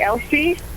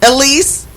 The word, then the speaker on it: Elise: Did I pronounce her name correctly? Elsie? Elise. Elise, I'm sorry.